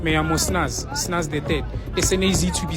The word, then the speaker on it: Snaz: llamo Snaz the third SNAZ to be spelled Snaz to be pronounced I'm big and bodacious